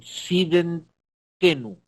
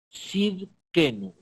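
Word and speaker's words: Tsidkenu: Es Yahweh Siden, a ver si lo puedo pronunciar, Sidenkenu. Sidkenu, ahí está, Sidkenu, Yahweh Sidkenu.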